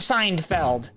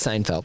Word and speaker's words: Seinfeld: particular show but seinfeld it wasn't seinfeld like you sign and then i know but you just pronounce it signed failed i didn't know you failed that signing something i did not was it a non-disclosure correctly it's seinfeld i've signed multiple non-disclosure